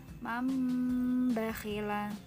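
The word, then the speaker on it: مَنْ بَخِلَ: Itu tulisannya man bakhila. Tetapi membacanya digabungkan, diganti menjadi mim, mambakhila.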